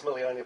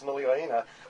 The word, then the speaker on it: Muliaina: Students at the Mills Muliaina Polytech for people who can't say Mills Muliaina will be taught the correct pronunciation from the legendary man himself.